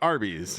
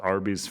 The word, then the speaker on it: Arby's: I was always told Arby's phonetic pronunciation of roast beefs, Arby's. No, wait. What? That's not true. What the fuck did you just say to me? Arby's, you know when you say the letter beef? R-B.